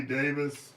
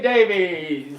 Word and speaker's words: Davies: And then Paulie said Ray Davis. Ray Davies. Ray Davies. Yeah, you can say it either way.